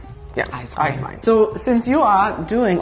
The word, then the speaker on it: Eiswein: That's Eiswein. Eiswein. Eiswein. So, since you are doing all your pronunciations so well, yeah, I drink a lot.